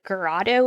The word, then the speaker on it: Garrido: JC's captors, Philip Greg Garado is how you pronounce his last name, and his wife Nancy.